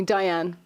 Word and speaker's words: Dianne: it but it's catastrophic in English people call me Diane Diane nice and do that so Diane's fine I wanted to ask